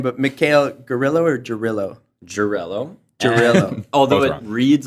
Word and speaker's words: Gerylo: Gerylo.